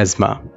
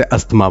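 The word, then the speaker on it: asthma: सबसे पहला पॉइंट है इसे ज्यादातर लोग गलत बोलते हैं शायद आप भी गलत बोलते होंगे तो इस पेस्ट को हम इंग्लिश में कहते हैं अस्मा और ज्यादातर लोग इसे अस्थमा बोलते हैं क्या बोलते हैं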